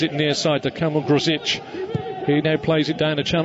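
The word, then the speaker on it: Grosicki: It is actually Gruzic. I went on there and I had the old sound on it. It's spelt Gruzicki, but he actually says Kamil Gruzic.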